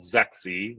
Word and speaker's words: ZEXE: actually authored in 2018 called sexy which is spelled zexe you should definitely check it